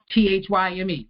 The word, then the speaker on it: thyme: Everybody knows that most people think it's spelled thyme. T-H-Y-M-E, right?